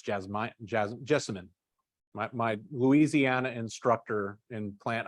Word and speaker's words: jessamine: Now, little fun fact: If it's not a true jasmine, which is jasminum, it's not pronounced jasmine. It's jessamine.